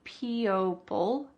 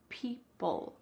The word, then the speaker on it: people: this word p pull what's happening to the O in this word p e o it's just gone we don't say po bull we need to say p say it with me p oll so the final sound is p-u-l pull people people can you